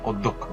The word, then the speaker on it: অধ্যক্ষ: এখানে অধ্যক্ষ শব্দের শুরুতে অ আছে। অ এর পরে জফলা আছে। এজন্য অটা ও হয়েছে। অধ্যক্ষ।